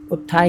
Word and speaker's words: उत्थाय: होगा कि उत्थान में, सॉरी उत्थाय है ये, माफ़ी चाहेंगे, उत्थाय है या उत्थान हो, बहुत ज़्यादा अंतर नहीं है बट है, तो प्रोनाउंसिएशन उत्थाय ही यहाँ पर पढ़ना है।